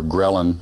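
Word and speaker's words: ghrelin: surgery I heard about a hormone called grelin or gin depends on which doctor you talk to how it's pronounced that basically signals your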